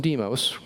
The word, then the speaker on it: Deimos: two moons Phobos and Deimos or Deimos depending on how you pronounce that and for various reasons